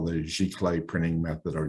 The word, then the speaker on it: giclée: At FineArt, we specialize in what we call the giclée printing method, or ziclée, some people like to pronounce it with kind of a Z sound instead of the G.